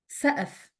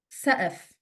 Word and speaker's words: سقف: سقف, سقف. The qaf is pronounced as a glottal stop.